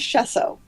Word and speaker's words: Shesso: The last name is Shesso. Shesso. Yes, that's what I thought it was.